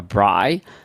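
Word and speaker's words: braai: and it's called a If I I may mispronounce it, but I think a bri. Yes, a bri.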